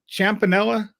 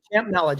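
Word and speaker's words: Champnella: Is it Champanella? Is that how you pronounce it? Champanella, just how it's spelled there.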